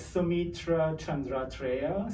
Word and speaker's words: Saumitra Chandratreya: It's Saumitra Chandratreya. So, it's like you pronounce every single letter like as it's written.